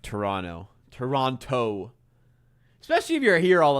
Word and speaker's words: Toronto: Oh God, it makes me like cringe when I hear someone pronounce the second T of Toronto.